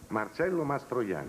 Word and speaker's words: Marcello Mastroianni: Marcello Mastroianni.